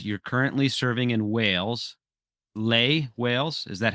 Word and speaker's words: Llay: No, it's Well, if you ask a Welsh speaker, they'll pronounce it differently from how I pronounce it. I call it cly.